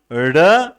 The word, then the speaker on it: ड़: ड ड़ ड ड़ ड ड़ ड ड़, तो दोनों का प्रोनाउंसिएशन, उच्चारण अलग अलग है। इन दो ध्वनियों को, ड़ और ड को, जो है उच्छिप्त बोला जाता है।